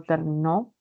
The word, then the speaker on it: terminó: No es igual, por ejemplo, pronunciar término, termino, terminó. El acento se traslada, es un acento libre, ¿no?